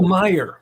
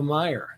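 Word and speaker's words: Meijer: to go to oh myer my i'm sorry apparently you're not supposed to pronounce the j who knew uh actually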